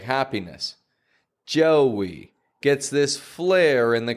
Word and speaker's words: Joey: Joey. Spelled J-O-E-Y, but we pronounce a W in the middle. Joey. It's not just joy. If you pronounce that, it sounds more like joy, like happiness. Joey gets this flare in the corners of the lips.